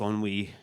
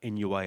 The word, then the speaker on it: ennui: And so they get married and, drift into kind of lower middle class ennui, or NUI as you used to call it before I ever heard the word pronounced properly.